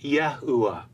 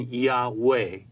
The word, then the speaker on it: Yahuwah: that defines for us how we should pronounce the last letter He in the divine name, which is always spoken as a short A or an Ah sound, and not the long A sound we hear in Yahweh.